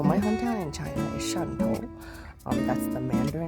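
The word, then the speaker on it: Shantou: Swatau is the English word for my the English word for the the dialect pronunciation of my hometown. So, my hometown in China is Shanto.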